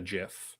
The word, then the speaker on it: GIF: Like like he pronounced it, the guy who created it pronounced it with a hard G as a GIF. And so people have been calling it GIF forever.